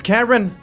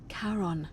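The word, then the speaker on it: Charon: could see oh what a marvelous lamp it's Karen do you see it somebody waking up by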